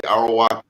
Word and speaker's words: Arawak: So when I think of Jamaica, if I could pull you in, I know there are the Arawak, if I'm pronouncing it correctly, Arawak Indians.